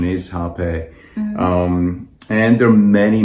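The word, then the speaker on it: rapé: as rape as well it's actually um spelled with r but it's pronounced with h so correct pronunciation is hape um and there are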